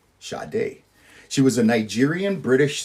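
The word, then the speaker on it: Sade: number 19 we have shade spelled sad D pronounce shade she was a Nigerian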